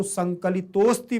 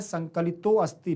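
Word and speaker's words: संकलितोऽस्ति: मैं आपको बताऊंगा कि इसका उच्चारण करते समय बस ध्यान रखना है कि ये लिखा हुआ है जैसे संकलितः धन अस्ति, तो संकलितोस्ति पढ़ना है, संकलितो अस्ति नहीं पढ़ना है। आ का उच्चारण बाहर नहीं आना चाहिए, ठीक है ना।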